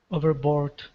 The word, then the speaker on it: overboard: deck and plugging plopping overboard okay very good uh now this last word is pronounced overboard the stress is on over instead of board okay so this is